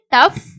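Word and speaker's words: tough: வந்து ஜியும் ஹச் யும் சோ ஜிய யும் ஹச் ம் வந்து சேர்ந்து வர்ற இடங்கள்ல fோட சவுண்டு இஃப்ன்ற சவுண்ட் தான் நம்ம வந்து கொடுக்கணும் அப்படின்ற மாதிரி சொல்லி இருக்காங்க ப்ரொனௌன்ஸ் லைக் எப் எஃப்ோட சவுண்ட் மாதிரி நம்ம ப்ரொனௌன்ஸ் பண்றோம் எக்ஸாம்பிள் டஃப் லாப் ரஃப் டிராஃப்ட் சோ இங்க எல்லாமே இந்த ஜியும் ஹெச் சேர்ந்து வருது பார்த்தீங்களா ஜி கூட ஹச் வந்துச்ச இடங்கள்ல எஃப்ோட இஃப்ன்ற சவுண்டுதான் நம்ம வந்து கொடுக்கிறோம் சோ இது அடுத்து இருக்கக்கூடிய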